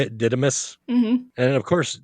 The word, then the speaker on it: Didymus: The big giant Sasquatch dude, and Sir Didymus. Is that how you say it? Didymus?